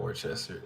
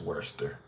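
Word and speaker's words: Worcester: looks like Worchester but it's not Worchester it's Worster why because it is you that's just how English works unfortunately I don't think anyone could get Worster without knowing that it's spelled like that there's no way you could guess that that's how it said even the sauce I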